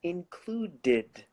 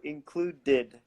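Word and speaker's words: included: number 14 the dough and 15 guys include did so you've got the you've got the the and so you've got an it there so include did and again guys with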